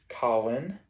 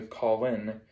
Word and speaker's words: Colin: speaking of its meaning in the british isles is pronounced colin but is developed into call in in the states its biblical meaning has